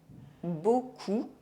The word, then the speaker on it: beaucoup: These consonants as the final letter of a word are silent in French. D, G, P, S, T, X, and Z. D'accord, gourmand, sourd, un point, long, du shampoing, beaucoup, trop, un champ, jamais,